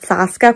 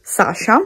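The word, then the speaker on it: Саша: Infatti ho scoperto che il nome della protagonista non è Saska, come lo pronunciavo io, ma si legge Sasha.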